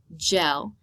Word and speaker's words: gel: on this generalization that the G is likely to make that J sound and thus will pronounce the word correctly gel instead of G for encoding this is